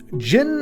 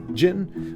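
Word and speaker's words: Djinn: running then we got Jin of Fool's fall I that's how you say it right the D is silent it's just Jin but it's a five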